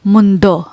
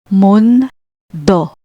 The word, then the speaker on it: mundo: Next we have mundo, meaning world. Split ND, mundo, mundo. Kidlat, lightning.